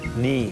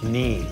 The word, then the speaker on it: Ni: So, Ni is water, so we'll say that. Ni, water.